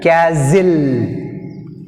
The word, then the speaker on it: castle: Next word 47, castle. Castle is the sound. Castle, which is silent, T silent.